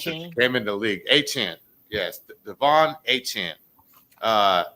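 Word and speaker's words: Achane: to myself since he came into the league, Achant.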